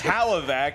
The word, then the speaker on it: Hlavac: nothing about this stuff Adam can't even pronounce his last name properly it's Halla vac and then when you